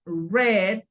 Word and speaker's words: read: Porque el verbo en el infinitivo es read, en el pasado es read y en el participio también es read, ¿ok? O sea, leí y leído se pronuncian igual, se pronuncian como el color rojo es red, pero en las tres